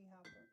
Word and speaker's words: Hooper: My first one is How do you say his last Is that Hopper or Hooper? Tobe Hooper, the one who did Texas Hooper, Texas Chainsaw Massacre.